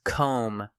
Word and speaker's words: comb: Silent B words. Comb. Tomb. Debt.